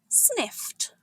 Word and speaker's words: sniffed: Sniffed. To sniff means to quickly smell something. It appears in the story as animals try to detect scent. It's pronounced sniffed with a crisp T ending.